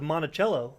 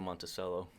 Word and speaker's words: Monticello: He talked about that, but then I went on to Monticello, the Jefferson... The people... Monticello? Yeah. I've been saying Monticello.